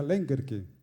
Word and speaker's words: Lengerke: las muchas versiones que lengerke se pronuncia lengerke con el acento inicial ellos no eran los